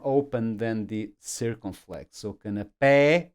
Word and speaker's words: canapé: So for example, canapé, I need this accent mark on the E because otherwise I will default to canapé. It's not canapé, it is canapé.